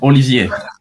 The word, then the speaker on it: Olivier: Yeah, Olivier.